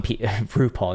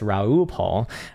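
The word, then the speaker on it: Raoul Pal: He's very lucid in his explanations, and he seems grounded, even though some RuPaul. No, it's Raoul Pol, not RuPaul, who is not the same person.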